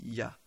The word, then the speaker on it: ja: Il la baptise Wij signifiant oui en français et en amant l'origine de chacun de ces deux hommes ja prononcé ya.